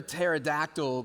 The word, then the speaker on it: pterodactyl: Why can't you hear a pterodactyl going to the bathroom? It's because the P is silent.